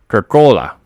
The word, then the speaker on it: Kirkola: Kirkola. That's how we pronounce it.